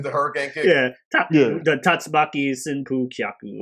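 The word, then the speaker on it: 竜巻旋風脚: Yeah, the Tatsumaki Senpu Kyaku or whatever, or Tatsumaki Senpu Kyak as it's pronounced.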